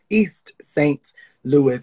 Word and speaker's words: East St. Louis: Louis, East St. Louis, if you want to be, say it correctly, is a place in Illinois.